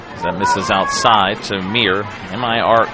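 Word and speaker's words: Mire: M I R E. Spelled pronounced Mir.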